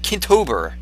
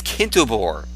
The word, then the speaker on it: Kintobor: Like, these people are getting the wrong, like Kintober, you know? Kintober is Kintobor.